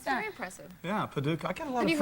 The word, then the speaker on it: Paducah: And on the cards, he looked at Paducah, Kentucky and pronounced it. And I was still sitting there going, how do you pronounce That's very that? impressive. Yeah, Paducah.